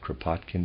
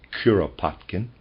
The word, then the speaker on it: Kuropatkin: general kuropatkin excuse me I pronounced it kropotkin before readers aside that's incorrect it's kuropatkin and the readers aside the